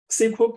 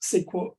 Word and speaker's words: SQL: SQL, pronounced SQL or SQL, is the language for accessing and managing database.